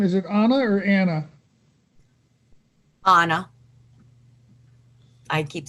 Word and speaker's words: Anna: Anna.